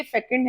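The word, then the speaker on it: fecund: Next is, इसकी pronunciation बहुत amazing है, जैसे आप सेकंड बोलते हैं ऐसे ही ये फेकंड है।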